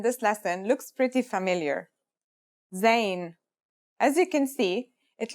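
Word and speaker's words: ز: In terms of pronunciation, you say it just like the English Z, as in zebra, or Al Jazeera.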